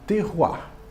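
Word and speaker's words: terroir: de terminar o alimento na verdade a palavra é pronunciada terruá que que é este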